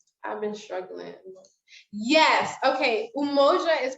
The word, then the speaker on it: Umoja: so she'll pronounce it yamoja but i think it's umoja when i hear people speak swahili i think it's pronounced umoja yeah you're welcome okay